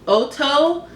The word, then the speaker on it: Ohto: So one of them is called Ohto Sharp Pencil 2.0. It's from Japan. And Ohto is spelled O-H-T-O.